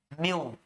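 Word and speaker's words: mu: म्यू, इसका pronunciation होता है म्यू, मू नहीं है ये, म्यू म्यू, ठीक है।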